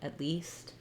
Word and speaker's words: at least: Remember that it's that tense E sound, at least, at least. And you see how it's stressed on the word least. At is just a helping word here. It's very short and it's unstressed.